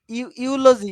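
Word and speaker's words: eulogy: দেখো ইউনিভার্সাল, দেখো ইউলজি, দেখো ই দিয়ে ইউলজি, ই আছে কিন্তু তাও ইউলজি খেয়াল করো।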